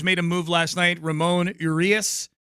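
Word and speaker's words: Ramón Urías: Ramon Urias is what I'm being told it's pronounced.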